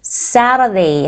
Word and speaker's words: Saturday: 저희 T 사운드를 Saturday 하고 되게 유연하게 발음해 주시죠? 약간 미국식 발음이라 그렇고, 뭐 영국식 발음은 Saturday 하고 발음하기도 합니다. 미국식 발음으로 한다 그러면 Saturday입니다.